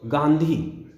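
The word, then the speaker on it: गाँधी: आ जो गांधी है गांधी शब्द है इसमें भी बिंदी से काम नहीं चलेगा चंद्रबिंदु लगेगी तो गांधी और दूसरा शब्द है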